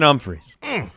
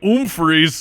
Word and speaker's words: Humphries: so Adam Humphries Oh how would one pronounce that still with a num freeze it's more like an own freeze yep all morning 44